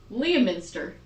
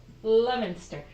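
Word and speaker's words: Leominster: So, so this one I see it and I would think Leaminster. That is not how it is. That is not how it is pronounced. It's pronounced Lemonston. Lemonster.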